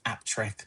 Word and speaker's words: Appletreewick: Used to hanker to move to Appletreewick till they knew it was pronounced Aptrick.